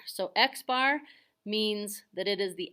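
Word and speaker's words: x̄: talking about the mean from the sample it's pronounced x bar so x bar means that it is the average or the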